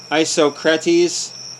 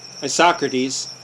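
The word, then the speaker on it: Isocrates: most enlightened men of antiquity a pinear plutarch isocretis i socrates sorry i'm pronouncing that right or wrong whatever spelled iso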